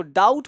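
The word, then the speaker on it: doubt: Debtor पढ़ना है, इसको डाउट पढ़ना है, इसको डाउटफुल पढ़ना है। यानी टी से पहले बी चुप रहता है, टी से पहले बी शांत रहता है। तो टी से पहले बी नहीं बोलना है, साइलेंट रखना है।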